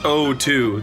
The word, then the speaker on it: O2: It's pronounced O2.